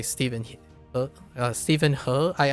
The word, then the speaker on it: Steven He: like say Stephen Huh Steven Hu, I I always call him Steven Hu even though I think he pronounces Steven He because he's a he's like westernized.